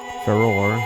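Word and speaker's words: Farore: the world by creating the sky basically for Roar that's how you pronounce it with her rich Soul produced all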